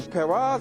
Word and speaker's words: Paras: The Parras or Paras, how you want to pronounce it, yeah, they were spawning.